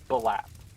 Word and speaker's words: Blap: Gosh, can you pronounce his name again? Blap? Balap. Okay. Yes. Blap.